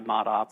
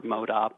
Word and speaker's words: ModOp: The business is Modus Operandi, but we actually go by ModOp or ModOp, and even the pronunciation of that sometimes varies.